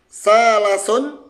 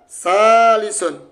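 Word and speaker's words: ثالث: Bisa dibaca salasun, bisa dibaca salisun. Ya, ternyata ini itu dibaca salisun. Dengan tahu ilmu sharaf kita bisa membaca harokatnya.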